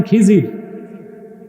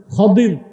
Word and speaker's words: খাদির: খাদির তো বুঝেন নাই, যাকে আপনারা বলেন খিজির, ওনার নামটা কি? খাদির, বিফাতহিল খা ওয়া কাসরিদ দাদ, খাদির। আমরা বলি খিজির, এটা ভুল উচ্চারণ, শুদ্ধ উচ্চারণ কি? খাদির।